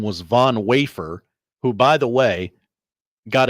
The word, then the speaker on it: Von Wafer: His name is Von Wafer. It is spelled Vom Wafer.